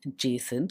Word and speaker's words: JSON: well the JSON module the term JSON is often pronounced jason so you shouldn't be